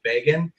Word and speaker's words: Begin: So he pronounced it Begin, and then the Polish, which my family takes it from.